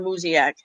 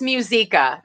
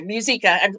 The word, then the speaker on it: Muzyka: sidewalk advocates for life and this is lauren muziak did i say that right close musica you told me yesterday too lauren i know